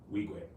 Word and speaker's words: Wigwe: Emmy Ma, And how do you pronounce Toby's last name? Wigwe.